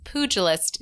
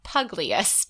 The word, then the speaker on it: pugilist: And so we did pronounce, I think we pronounced it two different ways, but we pronounced pugilist wrong, which then we were corrected and told that it is pugilist, not pugliest.